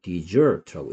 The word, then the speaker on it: dessert: desert는 사막인데 dessert라고 읽으면 후식이죠. 후식. 자, 선생님이 여기서 얘기한 거는 여기에 강세가 오면 dessert라고 읽고요. 여기 강세가 오면 dessert라고 읽고, 여기에 강세가 왔을 때는 발음이 뭐하고 똑같냐? 얘하고 똑같은 거예요. dessert하고.